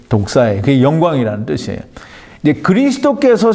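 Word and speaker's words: δόξα: 하고 이게 히브리 말로는 헬라 말로는 독사라고 하는데 이게 뱀 독사가 아니고 이 히브리 말 발음이 독사예요.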